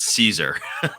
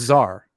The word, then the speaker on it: czar: literally c zero z not caesar no it's well it's zar uh okay i guess it's czar i just didn't take